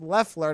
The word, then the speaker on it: Loeffler: He said, "As a Georgian, your pronunciation of Loeffler is killing me. It's pronounced Loeffler, not Oh yeah, because Loeffler."